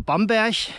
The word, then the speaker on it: Bamberg: es nach Bamberg geht oder Bamberg wie glaube ich die Einheimischen hier sagen ich glaube das hört dann eher wie so ein ch hinten ausgesprochen regional sind ja die Dialekte hier in Bayern recht unterschiedlich ich glaube hier wird auch viel mit la hinten am Ende geredet Endungen die hört